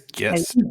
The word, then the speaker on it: Gist: I think it's Gist. Gist. Okay, with a hard G.